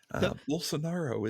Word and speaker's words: Bolsonaro: So Bolsonaro is correct.